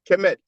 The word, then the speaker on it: Kemet: So indeed, to answer your question, when you have the I6 glyph, the loaf of bread, that's phonetically pronounced, sorry, kemet.